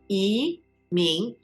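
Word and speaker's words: 移民: 移民, second tone. 移民.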